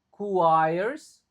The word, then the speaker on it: requires: In conclusion, sustainable urban development requires, UI-nya dibaca I, requires. Oke, sorry. U-nya tetap dibaca di sini. Lalu I-nya dibaca I. Jadinya requires, R-nya nggak begitu diucapkan.